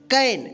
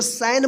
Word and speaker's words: can: कैन, CAN, क्या पढ़ेंगे इसको? कैन, इसको सैन मत पढ़िएगा, ठीक है।